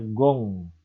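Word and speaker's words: 공: Nah ini dia, di akhir dibunyikan eng. Contohnya ada kata G, O, dan yang ini jadinya dibacanya gong. Intinya gong.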